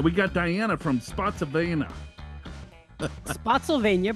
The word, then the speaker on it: Spotsylvania: Spotsylvania, pronounced like Pennsylvania. Oh, Spotsylvania.